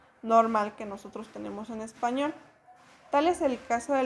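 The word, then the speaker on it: espagnol: Caso así tenemos la palabra español, que va a ser español. Nosotros la pronunciamos así, como algunas otras palabras que también tienen esta conjugación.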